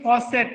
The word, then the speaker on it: faucet: ये फॉकेट नहीं है, फॉसेट है, ठीक है? फॉसेट रीड करना स की साउंड से।